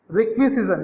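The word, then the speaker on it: requisition: A purchasing system encompass the process of purchasing from रिक्विजिशन। इसका जो pronunciation है, रिक्विजिशन मतलब होता है मांग, रिक्वेजिशन बोलते हैं इसका, इसका जो उच्चारण होता है रिक्वेजिशन, रिक्वेजिशन इसका प्रोनाउंसिएशन होता है।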